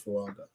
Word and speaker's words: Fuaga: Fuaga? Yeah. Hold on, you said Oregon State? I think it's Fuaga.